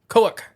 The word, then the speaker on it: Koak: You got to say it like koak. With some abrupt, like... Because that's the last noise you make as it's ripping you apart.